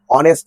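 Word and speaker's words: honest: অনেস্ট ম্যান লেখা অনেস্ট এইচটা এখানে নেই ভেবে নেই রয়েছে কি অনেস্ট ম্যান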